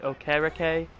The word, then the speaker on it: Okereke: Middle linebacker Bobby Okereke, or not Okereke, Okereke. Apparently is how you pronounce his last name.